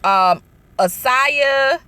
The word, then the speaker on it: Asia: Asaya, her name is spelled like Asia, but I think she says Asaya Argento or something like that, where